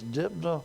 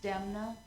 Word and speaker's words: Demna: right next up is dipna that I pronounced that correctly my name's demna I live at 406